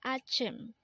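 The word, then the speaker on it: 아침: keep up the good work next word is Achim again this is pronounced as Achim and this is the Korean term for morning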